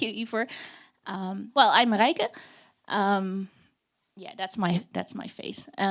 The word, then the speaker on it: Marijke: My name is Marijke, which absolutely no one who is not Dutch knows how to pronounce. So I keep telling people it's pronounced Marijke, and that's now my company name.